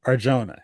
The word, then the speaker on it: Arjona: Adria Arjona.